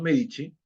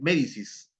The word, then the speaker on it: Medici: Florencia profesor pero dice medicis ah no pero se pronuncia michis es Florencia en en italiano la c y la i se pronuncia chi pero se escribe c i mientras que algo paradójico